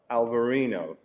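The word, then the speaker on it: Alvarinho: We have also actually south of the Reyes Busous is Portugal that do grow the uh Alberino gray but they call it Alvarino and in the Vineo Verde region.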